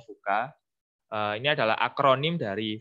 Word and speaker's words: VUCA: Nah, di sini saya akan sharing tentang 4 konsep ya, 4 konsep tentang kondisi, yaitu namanya VUCA ya, bacanya VUCA.